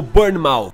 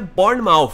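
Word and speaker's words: Bournemouth: Burn Mou e sim muita gente tá me corrigindo tá me ajudando a falar qual é a pronúncia correta né do nome do time dos jogadores e pelo jeito o nome do time é Born Mouth é assim que é quem realmente sabe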